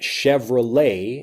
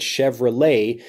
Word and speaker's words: Chevrolet: this video we had Chevrolet and that has the same et at the end of it Chevrolet so we take kind